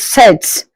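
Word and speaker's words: sept: Seven is set without the P pronounced set.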